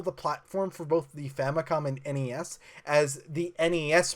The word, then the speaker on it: Famicom: pronunciation of famicom is famicon but in English it's pronounced famicom because it's short for family computer or how about the